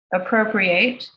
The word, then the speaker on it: Appropriate: Appropriate, or appropriate, you can pronounce it both ways, a Provocation, which examines cultural appropriation, is now available from W.W.